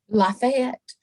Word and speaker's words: Lafayette: the woman of chateau now i want to say la fit but is it lafayette how do we pronounce it i would say lafayette lafayette oh my gosh well